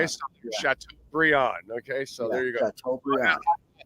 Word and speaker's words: Chateaubriand: Instead of Brian, it's pronounced Briand. Okay, Yeah. so Chateaubriand.